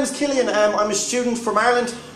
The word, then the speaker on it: Cillein: And I kind of always wondered, like, if you pronounce my name phonetically, it's actually Cillein.